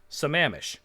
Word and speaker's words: Sammamish: and is also useful the third one is pronounced sammamish see i move that